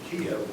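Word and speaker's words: Kyiv: at a time when kiev was the internationally accepted pronunciation the ukrainian spelling is k-y-i-v the russian and formerly internationally accepted spelling was k-i-e-v kiev is a very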